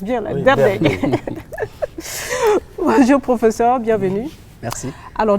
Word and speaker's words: Derdei: C'est Derdey. Derdey. Voilà. Derdey. Bonjour. Eh bien, il met l'accent pour qu'on prononce bien. Là. Oui, Derdey.